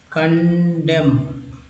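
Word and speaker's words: condemn: अब देखिए जैसे यहाँ पर एक वर्ड ले लेते हैं समझने के लिए, कंडेम। कंडेम, अब देखिए कंडेम में यहाँ पर एन जो है साइलेंट है, कंडेम।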